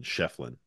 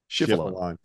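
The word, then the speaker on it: Schieffelin: I just say Shefflin, like the chef, and then like Jeremy Lin, Shefflin.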